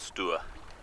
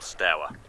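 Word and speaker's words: Stour: I'm about 2 miles up the stew or Stow people disagree about how to pronounce it for this is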